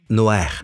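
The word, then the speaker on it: נח: Et le nom de Noé est Noer. Il le prononce Noer. Tout le monde dit Noer.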